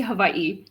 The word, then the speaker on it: Hawaii: Lots of folks are from Hawai I've always said Hawaii. So do I keep just saying Hawaii or is it proper to say Hawaii? Because I would love to say it correctly. Yeah. Said it once. Yeah. I mean, it should be Havaii, right? That's that's proper.